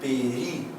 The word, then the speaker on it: período: E o certo, galera, é período. Eu estou fazendo o quinto período de direito. E não como a galera pronuncia período, é período. Ela também é proparoxítona, tá?